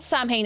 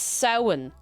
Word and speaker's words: Samhain: The MH, the M is lanite, it's like, it lanites the M sound, so it's not Samhain, it's Samhain. Samhain. It's like, imagine a sow. In. Samhain. Sowing around. Like, no, like, that's how you say it.